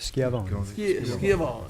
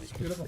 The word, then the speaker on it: Schiavone: Schiavone. Schiavone. It's a Y sound in those.